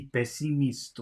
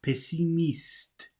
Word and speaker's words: pessimiste: Oh, he's pronouncing pessimist like it would be in English pessimist, but it's not pessimist, it's pessimiste.